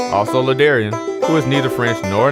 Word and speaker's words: La'Darrion: But today, I'm actually good with Ladarian. It rhymes with barbarian, librarian, grammarian.